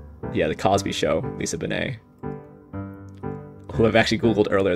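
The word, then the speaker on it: Bonet: i think uvia is probably pretty hard lisa benay too crossing bowie meaning harton was kind of tough i didn't know on a win tour there's an anna wintour i think it's on a wintour who's lisa benay wait is this um yeah the cosby show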